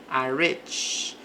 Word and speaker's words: rich: Decide has rich. Aqui o i ele tem mais som de e porque é uma palavra de uma sílaba com esta vogal aqui no meio.